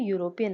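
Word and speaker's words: European: But vowel नहीं है, क्योंकि जब हम यूरोपियन बोलते हैं ई हमारा साइलेंट हो जाता है। हम क्या बोलते हैं? यू, यूरोपियन, वाई से स्टार्ट होता है, और वाई क्या है?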